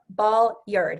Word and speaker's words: Bolyard: Got to say it right, Bolyard, because I have been saying it wrong, and it's important to say it right because that's who is.